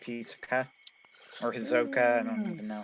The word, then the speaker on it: Hisoka: x hunter um i like these okay or hizoka i don't even know how to pronounce him hisoka yeah he worked as a good uh counterpoint